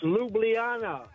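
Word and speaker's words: Ljubljana: Hometown please do it it's Luana Luana okay I've been saying Lu it's Luana I know you have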